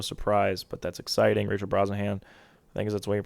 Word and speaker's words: Brosnahan: corn sweat no surprise but that's exciting Rachel Brosnahan things that's the way you pronounce it she's gonna be uh Lois Lane